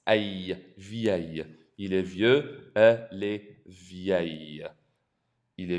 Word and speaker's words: vieux: You're not actually saying the X. It's pronounced vieux.